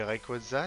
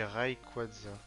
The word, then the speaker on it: Rayquaza: Est-ce que tu dis Rayquaza? Genre, il y a plein de prononciations possibles. Dans une pub, ils avaient dit un truc qui m'avait un peu choqué. Je crois qu'ils disaient Rayquaza, un truc comme ça. Moi, je dis Rayquaza.